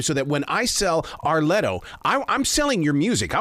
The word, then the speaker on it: R Letto: It's like a 3 syllable thing, like Beyonce, Arletto.